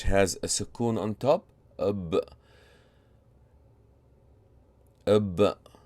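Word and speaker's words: اَبْ: How may you pronounce this letter, which has a sukoon on top? Ab.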